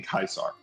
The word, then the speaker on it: Caesar: the Roman legions, but the pronunciation of Kaisar is because the survivors saw like Caesar's Palace in New like in Vegas and said Kaisar like pronouncing it wrong like because they read it wrong.